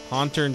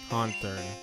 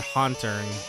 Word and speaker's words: Haunter: Haunter. What did I say? Ha. Did I not say it right? Oh, cuz I said ha turn. It's haunt.